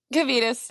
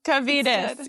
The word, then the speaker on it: Kvietkus: Today we're joined by Kvietkus. Did I say it right? Kvietkus, yes. Everyone says it a little different, though. Kvietkus, yes.